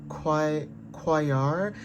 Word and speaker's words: Quaoar: And it's also giving like the asteroid, I think it's called Quayar. It's spelled Quaoar, but this is about like song and dance, okay?